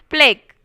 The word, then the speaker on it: plaque: Plaque, you should say. Okay, you should pronounce it as plaque.